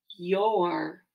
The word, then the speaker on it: your: The O-U and R do work together, though, and make the sound or, y-or.